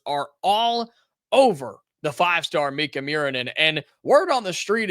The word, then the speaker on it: Miikka Muurinen: this kid's name up, it's not spelled the way you think it is, so just hear me out here. I'm going to spell it for you. Miikka, Miikka Muurinen. Muurinen. Miikka Muurinen. Miikka Muurinen. 2 I's, 2 K's, 2 U's.